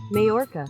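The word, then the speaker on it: Mallorca: the realistic bunch is moaka I need to pronounce this mayorca mayorca that mayorca Spain is the next one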